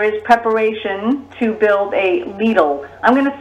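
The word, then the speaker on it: Lidl: years uh there is preparation to build a needle i'm gonna spell that for all of you people in radio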